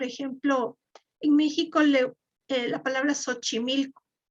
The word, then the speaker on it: Xochimilco: en méxico la palabra xochimilco la palabra xochimilco se escribe con equis y se lee s h o sea se lee como